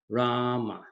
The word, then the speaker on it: Rama: chosen mantra of Valmiki Rama to observe two syllables raaah and ma so the name is Rama but if you are